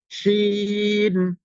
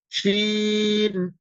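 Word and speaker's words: ش: যে জায়গাটুকু ফাঁকা জায়গাটুকু, পুরা জায়গাটা আপনার এই উচ্চারণে শিন উচ্চারণে ভরে যাবে। আমরা যদি বাংলা যে অক্ষরটি তালে বা স, এটার যেরকম উচ্চারণ করলে একটা ফুল মুখটা যেমন ভরে যায় উচ্চারণে, ঠিক শিন উচ্চারণে আপনার মুখের পুরা জায়গাটা যেন ভরে যাচ্ছে উচ্চারণে, এমন আওয়াজ মানে আপনার শিনের উচ্চারণটা করবেন আপনি।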